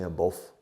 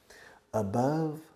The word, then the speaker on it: above: above below now listen you Spanish people always make mistakes in your pronunciation of above you say I'm both in many other ways above Rhymes Rima with love okay above love foreign